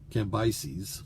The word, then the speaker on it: Cambyses: Well, likely he continued in Babylon, and Cyrus put his son Cambyses, I've learned how to pronounce that finally, put his son Cambyses in charge of Babylon.